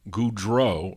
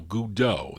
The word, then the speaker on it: Goudeau: of 56 Lee gudo Goudreau no Goudeau that's how you say it leave League Udo is